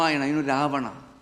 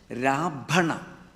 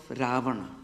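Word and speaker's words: Ravana: demon king of Rama Rahana. So Khalidas was so stupid that he could not even pronounce properly Rahana. So he pronounced Raana because he could not pronounce correctly.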